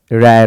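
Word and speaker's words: rare: है और ये जो आर ए आरई आप देख रहे हैं यह रेयर नहीं बल्कि रेयर हो होता है रेर होता है ऐसे ही पढ़ते हैं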